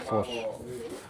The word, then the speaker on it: Fofos: Meanwhile, I just noticed it's called Fofos Sweets, not Gogos Sweets. At least I got the two syllables right.